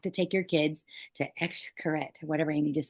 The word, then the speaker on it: Xcaret: It's I can't pronounce Xcaret. I looked it up. It's Xcaret. Oh, Xcaret.